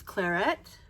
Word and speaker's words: Claret: And the first one I'm going to show you is Claret. That's how it's pronounced.